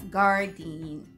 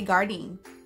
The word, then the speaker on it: Gardein: Next company is the OG, okay, the GOAT, okay, and it's Gardein, or Guardian, or however you pronounce it, but we say Gardein here.